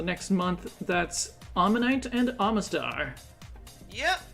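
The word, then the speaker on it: Omastar: month, that's Ammonite and Amistar. Yep. Or as some kid in my school pronounced it once, Oh Master. Oh, master. They were convinced that that's how you pronounced it.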